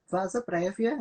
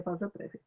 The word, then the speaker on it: vasa praevia: no Brasil se propagou o termo em latim, que é vasa prévia, e se escreve vasa praevia, então, mas vamos ser vasa prévia.